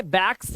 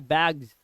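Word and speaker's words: bags: इसे पढ़ते हैं बैग्स इसे बैक्स नहीं पढ़ते बैक्स सा नहीं आता है लास्ट में ये जस आता है बैग्स बैग्स क्या आता है बैग्स ठीक है तो यहां पर बैग्स हल्का सा ज का साउंड होता है लिखा बैग्स है बट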